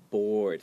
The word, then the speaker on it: board: Board, this word sounds like the word board, like B-O-R-D. Yeah. So a lot of times people that don't like board games, they'll call it board games, but they mean like B-O-R-E-D.